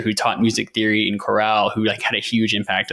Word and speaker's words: chorale: And I just figured out it was chorale, not choral.